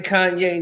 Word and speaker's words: Kanye: My name Kanye, not Kane.